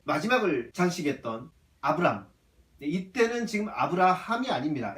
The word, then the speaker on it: 아브라함: 이때는 지금 아브라함이 아닙니다. 에이브러함. 영어로 에이브러함인데 히브리어로는 한글 발음과 똑같습니다. 아브라함. 아브라함이 히브리어 발음이자 이 참 한국어가 그래서 참 더 좋은 것 같아요.